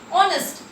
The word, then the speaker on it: honest: This H is silent.